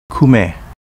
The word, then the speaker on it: Kume: Kume, pronounced Kumi in Uchinaguchi.